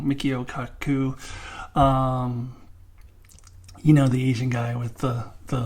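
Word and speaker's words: Michio Kaku: I think I just said his name wrong. Mikio Kaku.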